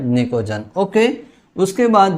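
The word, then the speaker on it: pnictogen: निकोजन। है ना? यहां पर पी साइलेंट है। ध्यान रखना। तो ये नाइट्रोजन फैमिली का जो दूसरा नाम है वो क्या है? निकोजन।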